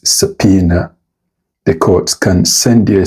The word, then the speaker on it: subpoena: Now this word shouldn't be said as sapoena. Regardless of the spelling, the correct pronunciation is subpoena.